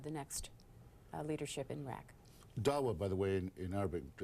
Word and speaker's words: Dawa: Speaking of Ambassador Bremer, the LA Times says today that they say that a member of the, is it Dawa? Is that how that's pronounced?